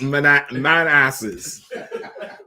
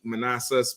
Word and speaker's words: Manassas: Okay, it's not pronounced Manasses, but I believe those names come from Native Indian chiefs. Chesapeake, Manassas, Potomac, Seattle.